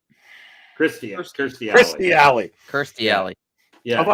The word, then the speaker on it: Kirstie: I will say, that you're playing that clip with Katie Alley, or what? No, am I saying her name wrong? Kirstie Alley.